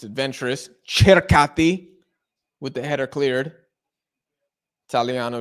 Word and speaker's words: Circati: Apparently, it's Churkati. I was hearing some Italians pronounce it.